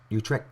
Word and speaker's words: Utrecht: Utrecht. That's how you pronounce it.